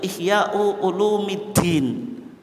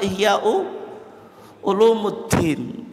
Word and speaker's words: Ihya Ulumiddin: beliau yang terkenal apa Ihya ulumiddin yang betul bacanya itu ihy ulumiddin karena apa mudf ilaih tapi kalau kita baca ihyaulumiddin itu berat sehingga yang terkenal apa ihyau Ulumuddin ini Kamon mistik Kalau